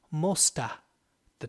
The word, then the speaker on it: most of the: most of that time we tend to compress the sound a little and we say mosta the time so most of